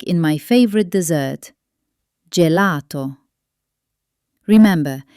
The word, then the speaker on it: gelato: gatto or gabbiano But before e or i, it turns into a soft j sound, like joy. ge gi Like in my favorite dessert, gelato. Remember, it's a soft j. gelato or giorno as in buongiorno.